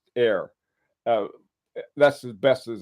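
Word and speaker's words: heure: hour into into French and it comes out air Zulu which I think is sounds a lot cooler I put it up there h-e-u-r-r-e is pronounced air uh that's as best as I can do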